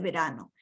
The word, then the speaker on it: verano: Verano is the V and the B in Spanish are the same. Pronounced as a B.